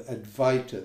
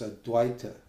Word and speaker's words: Advaita: So these teachers, this modern Advaita, or the Advaita, they call it. They don't even pronounce it properly. The actual pronunciation is Advaita.